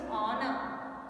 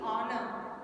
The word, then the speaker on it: honor: So, but still H is silent and we use honor. We use honor.